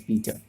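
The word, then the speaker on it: saltpetre: Okay, कुछ teacher इसे या स्टूडेंट भी कुछ चाइल्ड सॉल्ट पेत्रे प्रोड्यूस ऐसे प्रोनाउंस करते हैं, which is wrong. I know पीटर इज PETER, बट पेत्रे कहना थोड़ा गलत सा लगता है।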